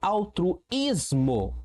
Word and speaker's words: altruísmo: Altruísmo. Opa. Altruísmo. A tru is mo altruísmo. Percebi que eu tenho a penúltima sílaba como sílaba forte, como sílaba tônica.